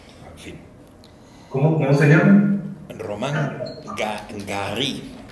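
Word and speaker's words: Romain Gary: Román Garí. Bueno, se lo pronuncio tan en francés, luego jugó muy francés, pero vamos, Romain Garry, eso es, Romain Garry.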